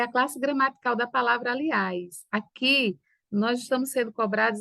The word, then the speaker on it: aliás: Aliás não é proparol aliás é um oxítona a sílaba tônica é a última aliás né certo então